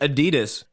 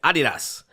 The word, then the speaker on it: Adidas: And I'm calling it Adidas because that is the proper way to say it. And if you say Adidas to one of the Reebok executives, they will correct you. It is Adidas.